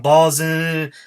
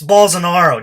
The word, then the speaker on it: Bolsonaro: And Dave Rubin starts it off by going, Bolsonaro, no? So, something like that. Like, totally botches you can't even read fucking English. It's Bolsonaro.